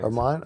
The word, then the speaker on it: Hermant: I wanted to bring on his fighter Hermon am I pronouncing that last name right yeah Hermon that's perfect Hermon okay and then um welcome to the